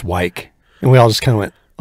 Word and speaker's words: Wick: His name was John Wick. Except when he got to work, he's like, it's pronounced Wyke.